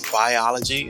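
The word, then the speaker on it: Buyology: Another book I liked was Biology, and it's spelled B-U-Y-ology.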